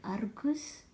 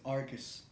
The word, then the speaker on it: Argus: Argus? It's Argus. I mean, a lot of people can't roll their R's, so.